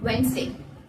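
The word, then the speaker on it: Wednesday: இதனோட ப்ரொனவுன்சியேஷன் வந்து நம்ம எப்படி யூஸ் பண்ணணும் அப்படின்னு பார்த்தா வென்ஸ்டே. வென்ஸ்டே வெட்னஸ்டே அப்படின்றத நம்ம வென்ஸ்டே அப்படின்னு சொல்லிட்டு தான் ப்ரொனவுன்ஸ் பண்ணணும்.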